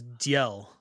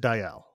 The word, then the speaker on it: Diel: named Diel I was I thought it was Dell no brand it Brandon pronounced it Diel and so okay I